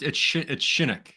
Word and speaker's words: Shinnock: Like Gosh, the O sounds like it's Shinnock. Like you're saying it really fast. But you got Shinnock.